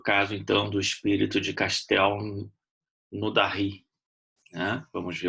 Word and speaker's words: Castelnaudary: Hoje a gente vai fazer um estudo do caso do espírito de Castel Naudary. É mais ou menos assim a pronúncia francesa, né? Difícil, mas é mais ou menos isso. Castel Naudary.